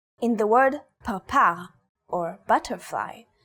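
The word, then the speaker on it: פרפר: In the word parpar, or butterfly, this letter is pronounced with a p sound.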